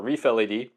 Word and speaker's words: ReefLED: This is a Reef Le or Reef LED, but they pronounce it reefled.